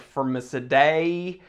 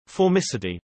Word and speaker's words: Formicidae: spec sheet saw femicity didn't know how to pronounce it i was like for miss a day and then i had to you know roll what i listened to formicity yeah so fermicity whatever